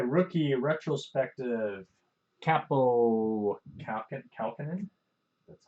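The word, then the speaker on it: Kaapo Kähkönen: Capo Kalkinen.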